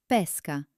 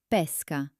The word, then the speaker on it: pesca: For example, the word for a peach is pesca with an open e, but the word for fishing is pesca with a closed e.